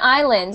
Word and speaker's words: islands: islands excellent Caribbean islands and I know it has an s in it but we don't say that s it's spelled is Lands but we only say Islands do you want to